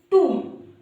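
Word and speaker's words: tomb: इसी तरह से गाइस टू अगर हमें नहीं पता है तो पता है हम इसको क्या पढ़ेंगे?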